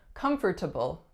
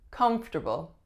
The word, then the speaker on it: comfortable: the word comfortable comfortable a lot a lot of people I hear saying this one as comfortable comfortable but we're gonna reduce and link and say comfortable her new couch is